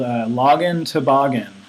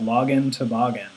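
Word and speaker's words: LoginToboggan: There's also a pretty common module called login toboggan. Like toboggan, like a sled. It rhymes with login. So the module is called login toboggan.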